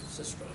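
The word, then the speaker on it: Sistrum: Sistrom, yes.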